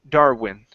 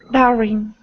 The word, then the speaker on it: Darwin: okay very good uh next up is um Darwin itself okay so this is going to be an oo sound right here in the middle okay instead of saying darn with a V sound it's Darin Darwin Darwin there you go that's much better okay uh